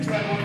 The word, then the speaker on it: Dreadwurm: It's actually Dreadwurm, but I say it like a German.